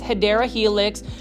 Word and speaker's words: Hedera helix: Every plant foldie's favorite, this is the Hedera helix, or the correct way to say it is Hedera helix.